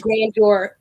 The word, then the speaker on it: Grandeur: spelled g-r-a-n-d e-u-r picnics so it's like grandeur like french grand junction but it's really like green your picture wait hold on